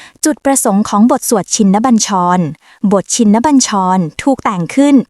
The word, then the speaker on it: ชินบัญชร: บท สวด ชินบัญชร อ่าน ว่า ชินบัญชร เป็น บท สวด มนต์